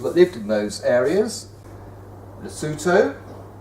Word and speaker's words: Lesotho: groups of people that lived in those areas Lesotho Lesotho which is spelled l-e-s-o-t-h-o Pia Swaziland which was a country